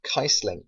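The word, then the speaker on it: Kießling: a um a German s so apparently it's pronounced kaisling anyway get this guy and the squad finish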